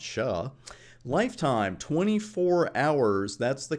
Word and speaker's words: SHA: we're going to use something called sha which I like to pronounce sha lifetime 24 hours that's